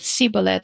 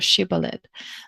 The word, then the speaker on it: shibboleth: He writes that strangers gave away their difference by being indifferent to the diacritical distinction between she and si in the pronunciation of this word, sibolet or shibboleth.